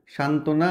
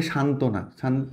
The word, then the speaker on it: সান্ত্বনা: সাথে ব ফালা বসছে যখন ব ফালা যুক্তবর্ণের সাথে থাকে এরকম তখন সেটা উচ্চারণ হয় না যেমন এখানে সান্ত্বনা সান্ত্বনা মানে কি কনসোলেশন এই